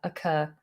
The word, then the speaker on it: occur: in in a sentence it would definitely begin with a schwa uh occur occur some people would you ever begin a sentence with occur occur it occurs to me it occurs to me that you've been drinking all my tea some people who are very posh might use a different vowel they might do more of an oh oh curse but i would highly recommend you start this with a schwa occur occur okay um someone on